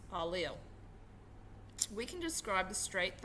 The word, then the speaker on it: allele: information for each form as an allele pronounced a lil we can describe the